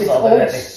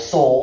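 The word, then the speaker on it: Sol: Old Saul. S-O-L. Right. Yeah, but I don't want to say old soul. It's like old Saul.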